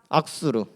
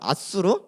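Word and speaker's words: 앗수르: 악수르. 발음이 잘 안 좋아요. 아수르.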